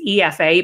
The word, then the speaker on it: Aoife: and interestingly i think anyone from outside of ireland won't really know how to pronounce my name necessarily so i tell people to read it backwards so it's it's pronounced as if it's efa but it's spelled aoife and i'm the founder of